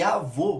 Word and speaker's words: avô: tônica tem um timbre e avô a gente vê que a sílaba tônica é voo porém o time dele é fechado por isso que a gente usa o acento circunflexo e essa basicamente a